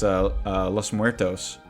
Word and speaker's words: Los Muertos: It's a Spanish word. It's Los Muertos.